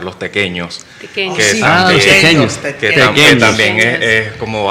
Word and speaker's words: tequeño: cumpleaños, nunca falta un tequeño. Pequeño. Y el papel en Facebook no tiene el ñ. No, y por eso al principio había que tratar de pronunciar, o sea, tequeño.